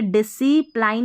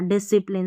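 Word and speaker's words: discipline: इसको पढ़ेंगे डिसिप्लाइन नहीं पढ़ना डिसिप्लिन स्पेलिंग याद कर लें।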